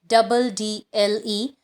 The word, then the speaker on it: meddle: Second similar sound is meddle, pronounced as medal.